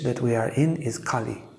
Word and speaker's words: Kali: And the age that we are in is Kali Yuga. It's a short A.